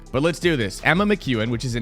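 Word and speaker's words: McKeon: Emma Mchuan, which is a name that I have butchered in the past and I apologize for doing so. It is Emma Mchuan. It's like the letter Q.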